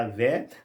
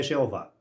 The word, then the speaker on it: Iavé: aqui Javé, o melhor, mais correto seria Iavé, não tem esse J. Iavé na via de Sansão, ou aquelas 4 letras, aquelas consoantes que representam o nome de Deus, que a gente não consegue pronunciar, que ela pode ser Iavé, pode ser Yahu, pode ser tanta outra coisa, mas apenas nós atribuímos. Nunca é Jeová.